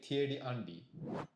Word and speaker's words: Thierry Henry: We say Thierry Andy. 難しい. The 日本人も French are the most difficult maybe. Do you think? For Japanese? Yes. It's hard to pronounce R the most.